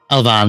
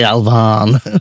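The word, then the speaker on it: Elvaan: Is that how you pronounce it? Elvan, yeah.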